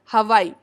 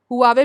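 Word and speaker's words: Huawei: Nokia as well as हवाई। हवाई क्यों? क्योंकि उसको अभी तक FDI क्लियरेंस नहीं मिला है। हुआवे भी बोलते हैं, आप इसको कहीं हुआवे भी सुन सकते हैं, जैसा आप इसको प्रोनाउंस करना चाहें।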